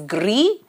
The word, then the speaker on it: gris: masculine here is Gris the s in the ending is not pronounced so it is Gris and to make it